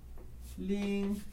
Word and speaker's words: 零: I, bai, lin. Lin, ó, o lin aqui do 0. Lin, i. I, bai, lin, i.